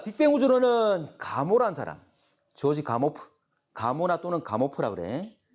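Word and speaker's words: Gamow: 조지 가모프. 가모나 또는 가모프라 그래. 원래 뭐 미국식 현재 발음 자체는 우리가 영어로 이야기를 하면 가모가 되지만 원래 이 사람은 러시아 사람에서 가모프.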